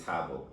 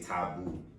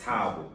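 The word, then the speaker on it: Thabo: right, or Stefan, all right, and then you say my name is Tabo, and then they say Tabu. Like, did you hear me say boom or it's Tabo?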